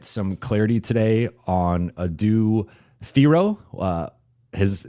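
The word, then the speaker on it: Thiero: clarity today on Adu Theoro. Uh his name is pronounced Theo apparently uh similar to Hero but with a T.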